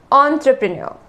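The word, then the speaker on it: entrepreneur: से ऑन करता है यह एक फ्रेंच शब्द है इसीलिए इसका उच्चारण थोड़ा सा अलग होता है इसको कहा जाता है एंटरप्रेन्योर फिर से बोलिए आप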